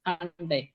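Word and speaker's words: Handy: তাহলে দেখেন এই যে এইচটাকে আমরা পড়েছি হা, আর এটাকে পড়েছি আ, এনটাকে পড়েছি এন, ডেটাকে পড়ছি ডে, আর ওয়াইটাকে পড়ছি উপসিলন। তাহলে ওয়াই এর মধ্যে উচ্চারণ হবে।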